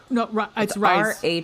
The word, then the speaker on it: Rhys: How do you pronounce Reese, that? I think it's Rhys. Rhys. Yeah, like John Rhys Davies. Well, no, you're right. It's Reese because it's John Rhys Davies.